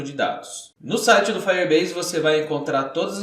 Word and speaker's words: Firebase: Para alcançar essa proesa, eu vou usar um serviço do Google chamado Firebase. No primeiro vídeo eu disse Firebase, mas a pronúncia certa é Firebase.